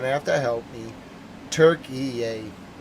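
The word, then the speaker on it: Türkiye: I'm not able to pronounce the version yet. Or Silent Dogs, you're going to have to help me. Turkey yay. Turkey yay.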